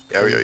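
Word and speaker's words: Aereo: then any who any carry on carry on Ario is that how that's that pronounced Ario yes Ario gets big win in Boston judge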